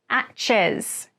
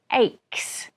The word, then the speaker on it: aches: aches aches firstly pronunciation it is not access it is aches with a k-k sound an ache is a